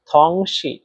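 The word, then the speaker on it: 同事: সহকর্মী এর চাইনিজ হচ্ছে থংশি। থংশি এর বাংলা হচ্ছে সহকর্মী। এখানে দেখেন থং এ থং এই শব্দটাতে চাইনিজের দুই নাম্বার টোন ব্যবহার করা হয়েছে। আর দুই নাম্বার টন উচ্চারণ নিয়ম হচ্ছে নিচ থেকে উপরে।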